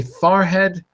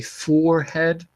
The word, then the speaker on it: forehead: clean shaven round face High farhead I say farhead most not most people in a different part of the country they'd say forehead it depends on where you live uh where I come